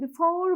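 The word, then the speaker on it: before: বি হিসেবে কিন্তু উচ্চারিত হচ্ছে একইভাবে যখন আমি বিফোর বলি আমরা কি জানি যে বিফোর বাই প্লাসফর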